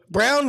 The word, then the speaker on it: Browne: time somebody had said Mr Brownie no it's brown the E is silent Mr M Mr silent